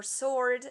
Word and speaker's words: sword: t is mute or sword the w is mute and uh a word